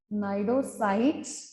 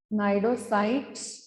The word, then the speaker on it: cnidocytes: ठीक है, so you can write simply these are called as cnidarians because of the presence of the cnidocytes or cnidoblasts. C is silent. Okay, cnidocytes or the cnidoblasts, that which carries the specialized sting cells called as nematocytes.